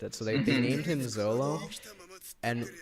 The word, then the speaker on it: Zoro: And in Japanese, there are no L's. That's right. They don't pronounce L's as in like L, because it's just not in their kanji, katakana, hiragana. Right? It's R. So Zolo actually really just like in Japanese is Zoro. Like it's pronounced like Zoro, right?